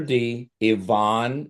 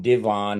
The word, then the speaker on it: D. Ivan: D, the letter D, Ivonne, it's not Devon, it's the initial D and then Ivon is spelled just like Ivan Young.